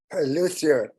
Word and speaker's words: luthier: Luthier.